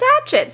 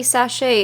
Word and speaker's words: sachet: we go these guys somebody did correct me and I was like no it's satchets because that's that's how I would read that word but it's apparently sachet is how you're supposed to pronounce it but I'm gonna be